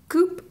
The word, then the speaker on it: coup: So our rare is a Confiscation Coup. Coup. What? It's pronounced coup. Oh, coup. And a foil Welding Sparks.